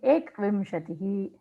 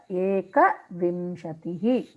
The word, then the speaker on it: एकविंशतिः: So you are saying ekvimshatihi, navavimshatihi, that ekavimshatihi. It should be pronounced properly.